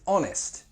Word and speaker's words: honest: they're adjectives she is honest trustworthy or reliable be careful of the pronunciation with this one the H is silent so honest not honest